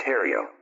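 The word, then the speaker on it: Herriot: Testo Madame Edward Haria that's h e r r i o t pronounced Hario kisser and AUST Victoria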